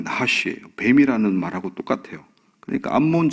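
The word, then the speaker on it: נחש: 이 나하스가 원래 발음이 나하시예요.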